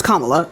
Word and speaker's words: Kamala: it's racist for you to not be pronouncing her name right it's Kamala um two I don't